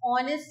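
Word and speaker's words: honest: ऑनेस्ट में किसकी sound आ रही है?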